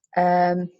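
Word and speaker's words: Verstehen: It's called Verstein, I think, and that's how it's pronounced.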